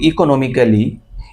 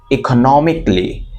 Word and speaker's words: economically: সেটা হলো আমরা বলি ইকোনমিক্যালি। ইকোনমিক্যালি আই এম not sound, ইকোনমিক্যালি আমি ভালো না, ইকোনমিক্যালি। এই ক্যালিটা আর কি হবে না, ক্যালি হবে না, বলতে হবে ইকোনমিকলি।